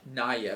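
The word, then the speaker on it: Naja: Naya. Okay, that's how you pronounce it.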